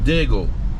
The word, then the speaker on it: Diego: do you say this if I'm local I'm I'm saying digle yeah some local said deole but I'm the tourist you said Deo so I'm saying dieo yeah so we pull